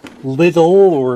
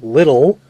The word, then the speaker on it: Lidl: was in my local Lidl store. I think it's Lidl, but I pronounce it little, like it's actually little.